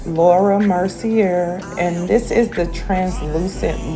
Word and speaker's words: Laura Mercier: I am having so much difficulty today pronouncing her name, but it's Laura Mercier.